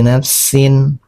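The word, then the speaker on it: نَفْسٍ: Jadi, bigiri nafsin au fasad. Jadi seperti itu. Biri nafsin sin dibaca jelas.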